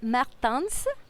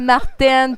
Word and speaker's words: Martens: Est-ce que je le prononce bien? Tu prononces bien, c'est bon! C'est rare que quelqu'un là du premier coup en plus. Mais je me suis pratiquée avant parce que je disais Martin, puis il dit que